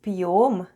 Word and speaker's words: пьём: The first sound is /p/, then goes Soft Sign... and Soft Sign makes the proceeding letter sound soft so we have /p'/. Then goes Ё /yo/... and М /m/. And all together it's ПЬЁМ /p'yom/ ПЬЁМ /p'yom/, which is